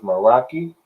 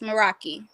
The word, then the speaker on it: Meraki: it's pronounced Meraki. Yes, Meraki. Okay, okay. I'm trying to think, did I say Meraki or I said Mahmoud? It's all right. I don't know. Meraki, it's a Greek word.